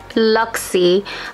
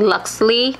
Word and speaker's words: Luxie: So we're back with the Luxie. I realize that I keep saying Luxley, but it's my lips and I keep saying it wrong.